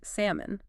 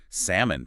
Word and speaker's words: salmon: word that's often mispronounced salmon oh yeah salmon people always say that it's salmon the L is silent English has so many